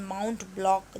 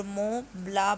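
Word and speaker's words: Mont Blanc: की श्रेणियों अमाउंट alien माउंट ब्लॉक जिन्हें वहां के उच्चारण के अनुसार मोहे ज्ञान और मों ब्लां बोला जाता है झील का पानी एकदम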